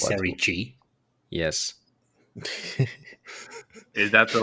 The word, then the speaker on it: Serie C: Did you say Like what- Serie G? Yes. Is that the like Primavera now or something? What am I missing? I mean Serie C, but it's like pronounced G.